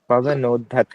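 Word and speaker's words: पवनोद्धत: कल्प पवनत वहनी कल्पम पवनोधत है। है ना ये आधा द और ध पवनत द वाला और धनुष का और लास्ट वाला है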